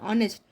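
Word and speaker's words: honest: एसे शुरू होता है लेकिन जब हम पढ़ते हैं तो क्या बोलते हैं ऑनेस्ट तो एन ऑनेस्ट लगेगा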